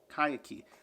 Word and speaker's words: Kaikeyi: Kaikeyi. Kaikeyi. Kaikeyi. Kaikeyi? Kaikeyi. Kaikeyi? Kaikeyi. Kaikeyi. Kaikeyi. Is that how you say it? This is how we pronounce the name. Kaikeyi. Kaikeyi. Kaikeyi. Kaikeyi. Kaikeyi. Kaikeyi.